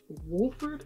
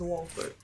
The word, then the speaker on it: Wolford: I used to pronounce it Wolford, but I think it's Walford.